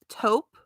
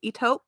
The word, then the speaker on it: taupe: which is Taupe and somehow everybody says eope like why is it I know they're pronouncing It the French way but um it's taupe taupe you know it's a taupe it's taupe Birkin you know I I